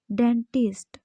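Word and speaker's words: debt: डेट इसमें B silent होता है, डेट होता है ये।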